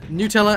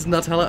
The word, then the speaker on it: Nutella: culture to culture so saying saying any one of those pronunciations is wrong is is to deny that culture their existence so yeah nutella and nutella are both correct as we have both